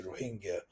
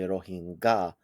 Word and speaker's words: Rohingya: influence so I say a lot of people in the english- speaking World say rohinga um you seem to be saying it rohinga as like a soften sound is that the correct